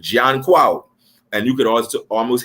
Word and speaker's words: Junkanoo: go back to him, his real name was Junkonoo. I had to learn how to say his name because I have this English colonial tongue in my head, but in the Twi language, it's Junkonoo.